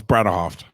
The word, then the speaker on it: Bredehoft: Am I saying your last name correctly? Close. It's Bredehoft. Bredehoft. So there's actually that syllable in the middle.